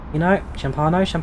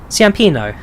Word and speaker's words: Ciampino: There's Ciampano. How do you pronounce it? Rome. Ciampino.